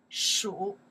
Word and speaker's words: 属: To belong to in Chinese, we say 属 you're right, 属 to belong to, 属 to